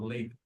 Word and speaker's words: LaTeX: it is latatt or latex. Latex latex or latex. Yeah. Latex is the rubber and latex is the language.